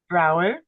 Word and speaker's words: Broward: Broward. Broward? Is it with a D? Do you pronounce the D or no? No, it's you have it in there, Broward.